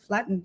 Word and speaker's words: Flaatten: And now is a good time to say hi to our guest, Flaatten.